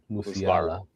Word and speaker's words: Musiala: Anyway, so I got Jamal Musiala. How do you say his name again? Musiala.